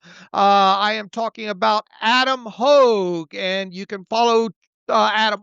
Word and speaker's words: Hoge: Yeah, let's get to Adam Hogue. You can follow him on Twitter at Adam Hogue, that's spelled Hoge, NFL analyst for All